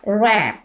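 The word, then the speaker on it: wrap: होगा ऑटम इसी तरह रैप डब्ल्यू आर ए पी रैप रैप अप कहते हैं ना रैप कर देना ठीक है तो डब्ल्यू यहां पर क्या होगा साइलेंट लेटर है इसी तरह हमारे पास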